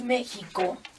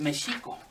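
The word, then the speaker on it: Mēxihco: Lo veo incluso en la entrada porque decimos México, Y es mexico.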